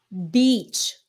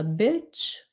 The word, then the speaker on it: beach: Còn như nhiều người mispronounce nó thành là bitch. I go to the bitch.